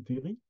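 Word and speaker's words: terril: ou fleur du Terri sans sans aile à la fin comme il convient de prononcer Terri euh et puis il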